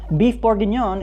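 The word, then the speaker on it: bœuf bourguignon: Beef boron is how you say a Burgundy style stew in French.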